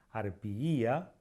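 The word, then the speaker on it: harpyja: con la letra I, como en el caso de arpía, arpiía, fíjense que dije dos veces la I, o como en el caso de frigilus gallii, nunca galli.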